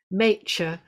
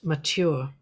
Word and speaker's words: mature: a very mature girl, mature to rhyme with nature, not mature.